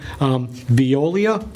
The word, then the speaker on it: Veolia: the plant and again getting, excuse me, not pronouncing everything right, Veolia, is that correct?